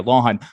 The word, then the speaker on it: Lawhan: If you were to give your boys truth serum, let's say your point guard, Coleman Lawhan, is yes, that how you pronounce it? Yeah, Lawhan.